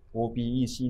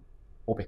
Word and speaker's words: OPEC: いうことですね日本語における読み方は何度も申し上げ待っていますけれども obc ではなくての opec ということになります表記はこちらです